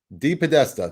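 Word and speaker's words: DePodesta: Paul De Batista, is that how you say it? D Podesta. De Podesta. That's exactly There. what I said.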